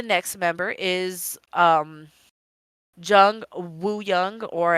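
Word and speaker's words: Wooyoung: with Uno the next member is um Jung Wu young or it's pronounced U young he is the m he is a main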